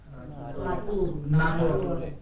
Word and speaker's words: Natur: R at the end is R. For example, this one. Natur. Natu R. Yes. R alone is R. So natu R.